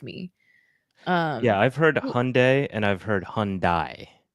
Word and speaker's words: Hyundai: like conf confused me um yeah I've heard Hyundai and I've heard Hyundai not Hundai oh that's not for you Shin that was